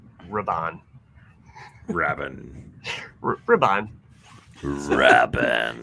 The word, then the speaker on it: Rabban: Richter Rabin. Rabban. Rabin. Rabban. Rabin. You're not putting the accents on the like syllables.